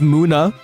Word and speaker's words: Munna: Is pronounced Muna. I don't care, I'm saying Munna. Deal with it.